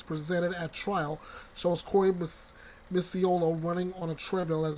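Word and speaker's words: Micciolo: There it is. That's the right pronunciation. Misiolo.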